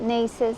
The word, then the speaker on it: Neese's: what say it nces there you go that's how you say it nieces I'm not sure it's